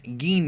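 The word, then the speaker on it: Gine: slide Goku's mother is a saian known as gin and that's how you pronounce her name by the way that is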